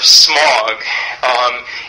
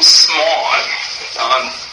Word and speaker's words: Smaug: So the name Smaug, which sounds to us maybe kind of like smug or something like that, or smog, but it comes from